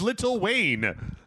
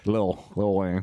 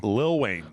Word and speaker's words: Lil Wayne: I keep pronouncing the T's in little. It is Little Wayne. Little William. Lil Wayne. Lil Wayne.